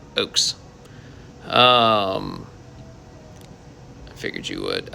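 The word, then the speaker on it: Ochs: eric oaks and it's spelled o-c-h-s but pronounced like oak tree oaks um i figured you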